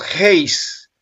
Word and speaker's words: heis: Y es la G1520 y se pronuncia en griego heis y dice que significa de forma numeral primaria uno, uno o una sola unidad o una sola cosa.